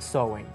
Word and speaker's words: Samhain: Se escribe Samhain, pero se pronuncia Samhain.